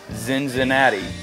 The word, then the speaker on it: Cincinnati: concert at October Fest zinzinnati as it's pronounced in German so my buddy JW